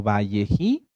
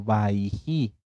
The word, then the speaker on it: Vayeji: hebreas en algunas tanaj como valleji o como baiji en ambas pronunciaciones están bien bji o baiji qué